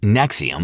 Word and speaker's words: NXIVM: Pronounced Nexium like the heartburn medication, which is ironic because this cult gave a lot of people heartburn.